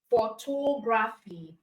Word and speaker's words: photography: break down this words how many syllables are there pH photography photography so that means we have four syllables in photography right we have four syllables in photographing so you start counting from the end Fe is the last syllable right Fe is the last syllable ra is the second the last syllable then we have to as the third to the last for tography all